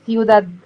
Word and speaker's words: ciudad: بص، اول حاجة بيبو نقولنا سيوداد. مش احنا قلنا ان السي بعديها اي او اي تبقى بتنطق ساء، فسيوداد.